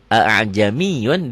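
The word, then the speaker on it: أَأَعْجَمِيٌّ: Maksudnya hamzah kedua dari kalimat tersebut tidak jelas, dibaca fathahnya. A'jamiyun gitu ya.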